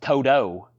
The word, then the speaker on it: Toto: say evidently I say Toto weird it's properly evidently pronounced Toto even though there's no D in it you're not supposed to say a t you're supposed to say a d i still disagree with